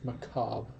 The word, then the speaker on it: macabre: to achieve macbar when how do you say the word cobber I've heard the word macabre I've never heard Macabre m-a-c-a-b-r-e yeah the re is silent the only reason I